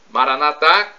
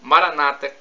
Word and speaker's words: Maranatha: aramaico dialeto de Jesus Maranatha com a tônica na última sílaba como dizemos nós católicos ou Maranata como dizem nossos irmãos separados os evangélicos ou protestantes com a tônica na penúltima sílaba não importa somos todos